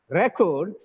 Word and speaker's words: record: session here presenting right record you need to bring all the records record the first syllabus stress it's a noun recording this webinar saying